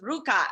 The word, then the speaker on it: RVCA: first I never knew I never knew how Ruka was pronounced for forever I always said like RVCA I never knew it was Ruka you know or Brands as a as a